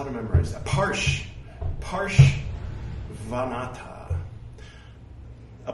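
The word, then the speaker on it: Parshvanatha: Parshvanata. A Porsche is not a van. Parshvanata.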